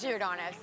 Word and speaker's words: Giordano's: Please tell me it's Giordano's. That's how you say it.